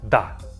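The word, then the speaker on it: да: both of these words I use every single day that's how you agree a waiter a flight attendant a cashier at a store you come and says to them the next word is da that and it means yes when you agree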